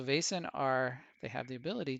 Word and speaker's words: Vaesen: allows you to see the vassen or Basin is pronounced so Basin are they have the